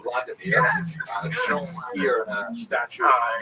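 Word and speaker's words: Владимир: What's especially important in its history is the conversion of one of its leaders, Vladimir, pronounced in Russian Vladimir, shown here in a statue overlooking the Dnipro River that runs through the middle of Kiev.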